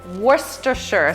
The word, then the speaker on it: Worcestershire: werster sure saw verse 50 I really want to learn how to say how do you say it worst assure Worcestershire sauce you're doing great okay thanks okay and